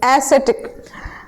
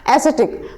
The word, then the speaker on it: ascetic: अच्छा, एसिटिक की जब बात करते हैं, किसकी बात करते हैं, एसिटिक, एसिटिक, excuse me, the word is given which is acidic and the spelling is ASCETIC, ठीक, स्पेलिंग ध्यान रखना, एसिटिक।